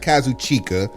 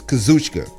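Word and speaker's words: Kazuchika: Kaz okada kushka okada for those that need to know how to pronounce his name not Kazu chica it's kazka listen it's the internet not everybody's smart and truth be told it's really kashka as the U is actually silent I digress do me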